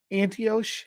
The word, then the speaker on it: Antioch: Antioch?